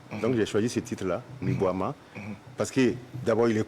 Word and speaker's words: Mi-Boama: Et ce produit, il est baptisé Mi-Boama. Oui. Mi-Boama. J'espère que je prononce bien. Tu prononces, mais c'est juste l'intonation qui n'y est pas. D'accord. Alors, prononcez alors avec l'intonation qui va avec. Mi-boam. Mi-Boama. Mi-boam.